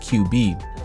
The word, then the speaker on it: QV: QV is a strange name for a game, but what's even more strange is the protagonist, whose name is pronounced QB.